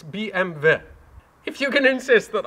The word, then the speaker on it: BMW: you can see bmw in german is not pronounced bmw it's bmv if you can insist that i call this